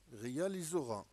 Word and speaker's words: réalisera: Le S égale Z lorsqu'elle encadre en deux voyelles, I et E. Le I est un voyelle. Le E est un voyelle. Je prononce S, Z.